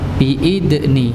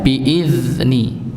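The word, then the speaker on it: بِإِذْنِ: Berikutnya ini yang sering juga terjadi kesalahan, biidni. Nah, ada yang beberapa, mungkin banyak di kalangan masyarakat yang bacanya biidni, padahal bacanya biizni, ya, karena hurufnya bukan huruf dal tapi huruf zal.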